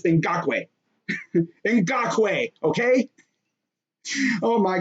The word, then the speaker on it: Ngakoue: his last name because i've heard some people mispronounce his last name it's in gaque not in gakui okay okay now of course this first name